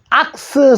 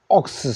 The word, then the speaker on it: ox: 60은 됐죠 자 그다음에는 악스 소리 옥스 소리 자 상자는 박스 박스 원투는 박싱 박싱 혹은 복싱 황소는 악스 옥스 황소들 슨 억슨 둘 다 됩니다 권투선수 박스 복스